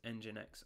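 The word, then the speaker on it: nginx: popular image is called jinx arm it has been pulled 240 thousand seven hundred and five times so what she actually said there was engine X arm she just doesn't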